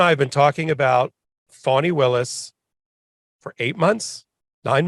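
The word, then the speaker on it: Fani: about her so long we finally figured out how to pronounce her name because in the beginning it was like fannie willis in fulton count like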